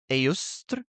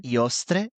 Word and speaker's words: Eostre: But so I would pronounce it as Iostre or Eostre.